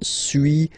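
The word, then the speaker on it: suis: to pronunciations okay so first one Su as you've been noticing you don't pronounce the final s okay and for two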